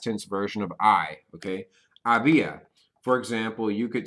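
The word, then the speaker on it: había: person singular and that is going to be AIA okay AIA that is how you say they was there was or there were this is literally just the past tense version of I okay ABIA for example you could say ABIA un what's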